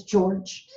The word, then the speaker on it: George: George is spelled with a G in English, but it's the J sound. So George is J-O-R-J. It's J, not G. It's George.